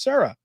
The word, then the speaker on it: Sarah: him to say his name and it's actually pronounced Sarah, contrary to what everybody was saying for years.